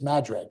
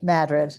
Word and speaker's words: Madrid: And how do you got, it's not Madrid, it's Madrid. Madrid, yes.